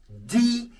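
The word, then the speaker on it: deux: Example, D cahier, not this cahier. Like I told you, on its own, the number is this. But when followed by a word that begins with consonant, the X is silent.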